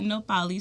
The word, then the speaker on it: Nohpalli: that H? Yeah. The H was silent. I never heard it. The H is silent.